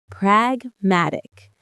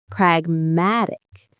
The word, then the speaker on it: pragmatic: Pragmatic. It's one of the most useful words you can ever learn for real-world problem solving. Let's say it. Pragmatic. The stress is on that middle syllable.